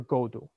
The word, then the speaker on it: Godot: Uh, the most important one of all is waiting for Godot. Now the T is silent, okay? So waiting for Godot, not Godot.